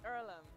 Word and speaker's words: Earlham: do is it ireland is it pronounced earlham it's earlham and it's a place